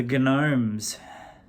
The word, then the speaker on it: Gnomes: I think these dudes might be about to be big, and that's the Gnomes.